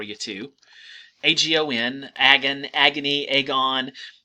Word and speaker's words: agon: It depends on how you pronounce it, right? They would have pronounced it agon. It looks like agon. I'm going to say agon, right, because it sounds like agony, and that's how you're going to think of it.